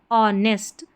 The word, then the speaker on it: honest: डी एच यहां पर silent है। ओ से प्रोनाउंस करेंगे। तो यहां पर ओ को अ प्रोनाउंस करेंगे। अ और एन ई एस टी नेस्ट। द ऑनेस्ट और ये है एस एच ओ P shop.